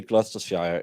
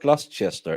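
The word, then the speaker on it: Gloucester: Glusters is the county. Glchester. No, it's not Glustchester. It's spelled Glustchester, but it's Gluster.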